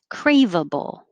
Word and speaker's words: craveable: might go faster seven craveable it sounds like three syllables craveable and the vowel is instructable is cray a so your tongue has to rise a and this one is